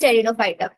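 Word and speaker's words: Pteridophyta: Yes ma'am, ये जो टेरिडोफाइटा है इसमें पी साइलेंट है। टेरिडो में हाँ टी साइलेंट है बेटा, टी टेरिडो बोलेंगे TERI।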